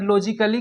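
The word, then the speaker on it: logically: अगर लॉजिकली का बात किया जाए तो यहाँ पे ए साइलेंट है।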